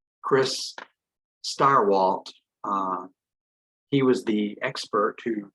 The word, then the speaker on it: Stirewalt: Chris Stirewalt.